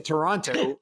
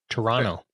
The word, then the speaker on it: Toronto: Toronto. You can give that a shot if you. Toronto. Toronto. The T is silent. Yeah, Toronto.